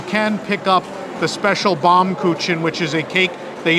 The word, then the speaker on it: Baumkuchen: Okay, Baumkuchen. Japanese, She's yeah. correcting my pronunciation.